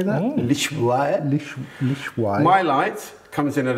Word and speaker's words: Lishuai: Lishuai.